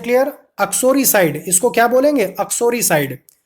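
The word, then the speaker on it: uxoricide: अक्सोरीसाइड। युक्सो नहीं बोलेंगे इसको, आपका प्रोनाउंसिएशन बहुत क्लियर होना चाहिए।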